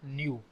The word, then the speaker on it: Nu: Nu is a parameter we will read this as new and U pronunciation is new so Nu is a